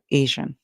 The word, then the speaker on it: Asian: have to remember that it's not the S8 song it is the Z8 song that you hear otherwise you're going to say a and asan asan asan well uh a lot of persons today pronounce it as Asian a lot of us do but um their pronunciation as in their pronunciation from back then to now Still Remains the Same and it has always been the J song Asian all right so here